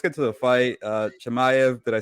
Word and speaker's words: Chimaev: you know let's get to the fight uh chemiev did i say it right yes you got